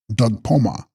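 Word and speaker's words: bDug-spos-ma: pronounced Fren Bama, and Dug Sposma, pronounced Dugpoma.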